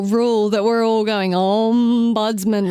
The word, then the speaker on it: ombudsman: Ombudsman. See, Emma said, you and Sarah emphasise the M. we agree, because that is the correct way to say it. And I emphasise the buds.